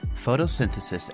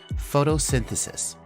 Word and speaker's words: photosynthesis: for you to pronounce our first syllable is photo then we have sin followed by the and finishing with sis and Al together photosynthesis one more time photosynthesis